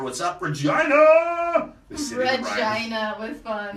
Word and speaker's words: Regina: The city Regina with fun. The city that rhymes with fun.